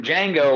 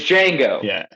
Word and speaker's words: Django: He says, and Django says, "My name is Django." or you know, like he spells it and he says the D is silent.